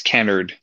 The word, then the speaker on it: Kennard: It's Kennard and Nosworthy.